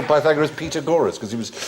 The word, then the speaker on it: Pythagoras: you ask your mathematics teacher must do the pitagoras and are we going to do petag gorus go shut up FR pagor years later I discovered he meant P Pythagoras he used to pronounce pineapple upside down cake